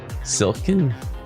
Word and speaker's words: Silkin: I am Brandon Pham, and with me a special guest, Silkin. I got it? That's how you pronounce it.